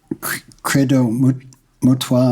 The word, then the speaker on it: Credo Mutwa: You're talking about Credo Mutwa, am I saying it right?